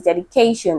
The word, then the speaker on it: dedication: The word is dedication. Okay, so there's a stress rule that says that word that ends with ION should be stressed on the syllable before it, and the syllable before this word is K, right?